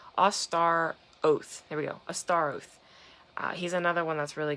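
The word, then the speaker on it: Astaroth: There we go, Astar Oath.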